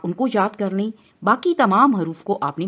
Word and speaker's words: ب: حروف تہجی کہتے ہیں۔ ہم نے ان تمام حروف کو عربی لب و لہجے کے مطابق پڑھنا ہے، یعنی با، تا، سا، اور اردو تلفظ سے نہیں پڑھنا۔ اردو تلفظ یہ ہے بے، تے، سے، کیونکہ عربی حروف تہجی میں بڑی یہ کی آواز اے نہیں ہے بلکہ یا ہے، ٹھیک ہے، اس کا